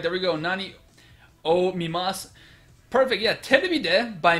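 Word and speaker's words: なにを: Notice the pronunciation is not nan o, it's nani o.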